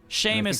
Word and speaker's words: Seamus: Seamus is how you pronounce it.